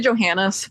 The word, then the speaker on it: Johannes: your last name Taylor I say Johannes but joh either way whatever okay a lot weird